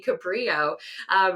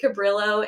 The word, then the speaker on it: Cabrillo: evidence was found that juan was actually born in spain which means that the pronunciation would be cabrio so you know we